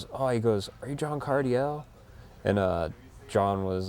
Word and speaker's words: Cardiel: how you mean like if you say it's cardio ledge it's like you don't say it like Josh Kayla sledge no you don't say that you say Cardiel cuz that's all I